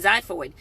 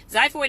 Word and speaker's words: xiphoid: X word for you another one pronounced with a Z xiphoid okay that's spelt